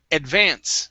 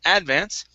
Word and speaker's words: advance: good uh next is advance so our stress is at the end instead of Advance it's advance advance advance very good and